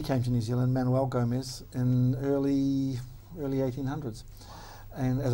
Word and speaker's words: Gomez: An interesting story with that is that the Portuguese pronunciation of Gomez is Gomes, and it was anglicised by the time my grandfather came along to Gooms. To Gooms?